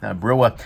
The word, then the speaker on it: Brouwer: To start with, the maker of this guy is a guy named Jerry Brouwer. Brewer. That's how it's spelled right there.